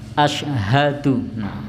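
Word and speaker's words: أشهد: pada saat mengucapkan syahadat Asyhadu biasa diucapkan A1 karena terlalu Hai cepat jadi harusnya haknya diucapkan Asyhadu Ayo biasanya diucap asal to jadi haknya hilang itu biasanya disitu nah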